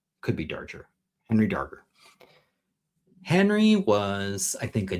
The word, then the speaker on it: Darger: Henry Darger. We're going to say it's a hard G. Could be Darger. Henry Darger.